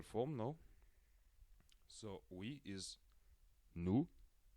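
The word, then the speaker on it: nous: now so we is new new we do not pronounce the final s and our is not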